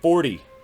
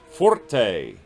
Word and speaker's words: forte: we've just talked about it forte it's not forty it's pronounced forte and that is loud those are the four